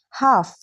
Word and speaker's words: half: Silent L usually comes after A, O, U. When L comes after these vowels, very often we don't pronounce it clearly. Let's look at examples. Half, calm, talk, walk, should, chuck, salmon.